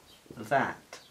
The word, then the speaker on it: that: Pues sí, sería that. ¿Y cómo pronunciamos? ¿Eh? Pues es entre A y E.